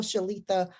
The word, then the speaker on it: Shaletha: welcome tonight we have with us the wonderful shalitha did I pronounce that correctly yes yes you did wonderful